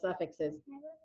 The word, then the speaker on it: suffix: I like that word a lot because I love suffixes. You may. But suffix. Do you hear both F's? It's 2 syllables, and listen, and you can hear them both.